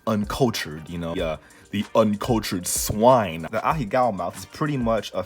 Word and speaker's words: ahegao: You should do a tutorial on how to draw the ahegao mouth. I got Google, bro. Google is free. Google is very free. Hold on.